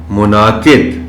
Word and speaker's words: منعقد: پڑھا جانا چاہیے۔ ملک، منعقد، اب اس لفظ میں اگرچہ نون کے اوپر جزم ہے، لیکن نون اور عین دونوں کو بڑے واضح انداز میں پڑھا جانا چاہیے۔ منعقد، منعقد، مختلف، یہ لفظ